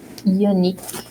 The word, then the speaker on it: unique: Unique. Remember, Utah, unique. Unique.